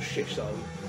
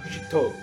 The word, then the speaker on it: shito: If you were to read it in English, it would sound like shitto. But Philip assures me it's not pronounced shitto, it's pronounced shito. So the emphasis is very much on the second syllable, shito.